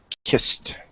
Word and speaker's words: kissed: pie and this this the Ed in here is kissed kiss it's a te kissed kissed kissed kissed the